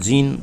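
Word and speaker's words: Jean: দেখো French character তো, আমরা এদেরকে উচ্চারণ করতে পারি জাঁ বলে, অ্যাকচুয়ালি ফ্রেঞ্চ উচ্চারণ হবে জাঁ, আর না হলে ইংলিশ প্রনাউন্সিয়েশনে আমরা জিন ও অনেকে উচ্চারণ করেন, আর বেহসে উচ্চারণ না করে আমরা বেরেঞ্জা, আমরা ইংলিশ প্রনাউন্সিয়েশনটাই করি।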